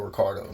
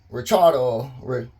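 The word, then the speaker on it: Ricciardo: that his name is Daniel Ricardo that's how he pronounce it it's pretty much mentioned in every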